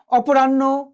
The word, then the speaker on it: অপরাহ্ন: অপরাহ্ন কি হয়েছে, আগে নটা এসছে, পরে হ গিয়েছে।